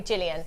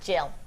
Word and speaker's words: Jill: A lot of people call me Jillian. Uh, but it is just Jill.